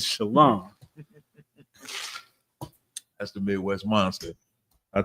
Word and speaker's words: shalom: Quick shout out to Captain Mo Quad in the comments said, "Stop that shalawam garbage. The correct way to say peace in ancient Hebrew is shalom."